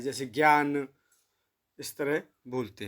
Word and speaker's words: ज्ञ: ज और य, तो इसे ज्ञ बोलते हैं वैसे, क्योंकि इसमें आधा ज और य, लेकिन अब इसका प्रचलित जो रूप है वो ज्ञ बोला जाता है, जैसे ज्ञान, इस तरह बोलते हैं।